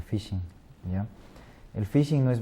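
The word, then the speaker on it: phishing: llamamos pesca de datos en inglés se pronuncia fishing ya el fishing no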